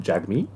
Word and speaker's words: Jagmeet: j g m e e t isn't it jagmeet yeah but you pronounce it oh do you oh i'm an